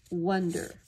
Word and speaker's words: wonder: That ah is pronounced wonder.